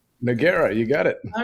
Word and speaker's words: Nogueira: That's how you pronounce it, right? Nora. Noera.